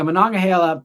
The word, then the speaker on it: Monongahela: So yeah, Monongahela is how I say that one. These are Pittsburgh related rivers for anyone who's thinking we're talking in Greek here. The Yakagani is how you say that other one there. At least that's the way I say it.